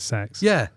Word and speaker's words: CeX: But just to put to bed what I said, they actually pronounce it sex.